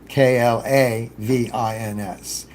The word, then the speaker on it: Klavins: And Clavins is just as it sounds, Klavins. He's on Unsplash.